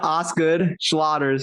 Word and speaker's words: Osgood-Schlatter: No, Osgood-Schlatter's. It's like OSGOD Schlatter's disease.